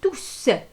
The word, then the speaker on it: tous: Elle s'écrit tous et ce S-là, il s'entend à l'oral. Alors, lorsqu'on a S, on dit tous.